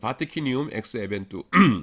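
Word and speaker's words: vaticinium ex eventu: K가 라틴어였기 때문에 C를 크로 발음합니다.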